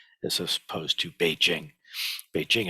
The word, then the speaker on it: Beijing: they used to say Peking as opposed to Beijing Beijing is much much closer to um how an actual a Chinese person would pronounce the name of that City P King is um